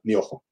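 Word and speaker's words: 妙法: Myo o ho. Son dos palabras, pero se pronuncia myoho.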